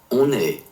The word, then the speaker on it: on est: On est. On est. On est. So la liaison is like the two words are fusing together when you pronounce them.